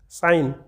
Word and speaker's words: sign: ठीक है, साइन, तो इसमें साइलेंट लेटर क्या है, इसमें जाएगा G। क्या जाएगा, G, साइन। ठीक है, यानी कि G का हम उच्चारण इसमें नहीं कर रहे हैं।